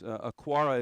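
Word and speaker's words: Okwara: very interesting young man he is aquara is how you pronounce it and you know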